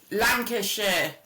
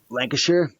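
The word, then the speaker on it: Lancashire: Chris Lancasher Lancasher. Lancasher. You don't So we don't say shers, we say shia.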